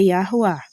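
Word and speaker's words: Yahweh: A pronúncia sem sinais aoréticos, conforme o hebraico antigo é Iará, tá?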